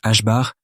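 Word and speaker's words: ħ: Se prononce H bar est une petite quantité qui sert à relier l'énergie d'une particule à sa fréquence.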